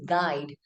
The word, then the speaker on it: guide: we pronounce that word, the letter U sound is unheard. That means the letter U goes silent or quiet.